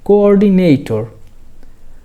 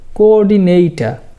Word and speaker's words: coordinator: এন এ নেই টি ও আর টর কোঅর্ডিনেটর আমরা যদি একদম ব্রিটিশদের মত উচ্চারণ করতে চাই তাহলে এই শব্দটির উচ্চারণ হবে কোঅর্ডিনেটটা তবে ব্রিটিশদের মতোই যে উচ্চারণ করতে হবে এটার কোন বাধ্যবাধ্যতা নেই আপনি কোঅর্ডিনেটর এটা বললেও আপনার কথা সবাই বুঝতে পারবে এই কোঅর্ডিনেটর শব্দটির কিছু সিমিলার